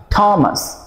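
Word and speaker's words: Thomas: Time time, থিরিচা থিরিচা, থমাস থমসন, থেমস, দ্য থেমস river in London, Beethoven Beethoven. তাহলে আমরা দেখলাম 3H এর উচ্চারণ এখানে ঠ ঠ সাউন্ড হচ্ছে।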